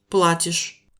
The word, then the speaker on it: платишь: je paye, tu payes se dit Платишь. accentué sur la première syllabe.